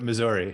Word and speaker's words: Missouri: misery, like misery bad, but Missouri.